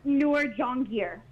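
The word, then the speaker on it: Noor Jahangir: pronouncing your name correctly so it's actually pronounced newer john gear newer john gear okay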